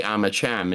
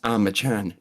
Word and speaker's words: Armacham: And it because it's spelled Armacham, so I say Armacham instead of Armachan, and people are like, well, there is a narration in the beginning of the game that says Armachan, not Armacham, so you clearly didn't play the game.